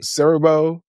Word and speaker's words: Siriboe: Because did y'all hear how you pronounce his name? Kofi Siriboe?